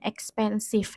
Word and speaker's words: expensive: adalah expensif x Pensive meskipun tulisannya ekspansive itu bacanya ekspansif nah dihitung dari Kita